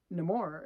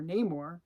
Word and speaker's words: Namor: Namor and wakanda because no more is or Namor jeez it's almost gets into your head when they mispronounce it that way um is now going